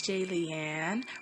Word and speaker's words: Jaylian: out there hey it's jay leanne rhymes with alien like if you're a fan comment and subscribe hello my name is jaylian let's get started sexsomnia